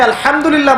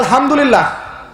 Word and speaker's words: আলহামদুলিল্লাহ: হায়ে Houthi, এটাকে বলে বড় হা। উচ্চারণ কোথা থেকে করতে হয়? মাঝখান থেকে। মাশাআল্লাহ। এখানে যদি আপনি আলহামদুলিল্লাহ বলেন, অর্থ হচ্ছে সমস্ত প্রশংসা কার জন্য?